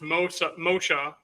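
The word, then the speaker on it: משה: But so Moses' name is pronounced Moshe in Hebrew, which means to be drawn out.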